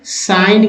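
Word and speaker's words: sign: का मतलब जी एन तो एन के तुरंत पहले जी आए तो जी साइलेंट होता है जैसे साइन का जो है साइन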